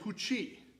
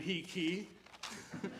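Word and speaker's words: He Qi: a Chinese artist named Hu Qi. It's spelled He-Qi, H-I-Q-E, and I've been calling him He-Qi for the longest time, but lo and behold, I was wrong.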